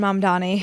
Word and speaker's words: Mamdani: So, you've weighed in on the Mani. Is that how you pronounce his last name? Yes. Zoran Mandani.